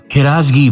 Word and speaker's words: ہراس: ایک اور اہم لفظ ہراسگی پر بات کریں گے۔ فارسی میں ایک لفظ ہے ہراس، یعنی ہے کے نیچے زیر کے ساتھ۔ اس کے معنی ہے خوف